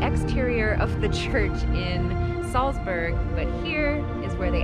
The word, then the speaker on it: Salzburg: We're in Salzburg and our tour starts like now.